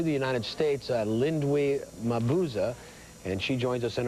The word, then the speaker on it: Mabuza: pronounced your name right is it mabuza is that correct it was perfect oh thank you well